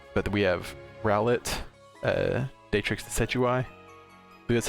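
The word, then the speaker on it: Decidueye: of salt uh but we have rowlet uh datrix the setui that's how you say it so this one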